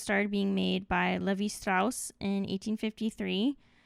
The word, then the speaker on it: Strauss: Those started being made by Levi Strauss in 1853. Tried pronouncing his name the German way, or else my German friends will kind of come after me.